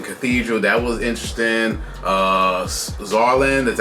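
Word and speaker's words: Saarland: Uh, Zarland, that's how you pronounce it. It's crazy. It's pron it's with it starts with an S, but it has a Z sound to it.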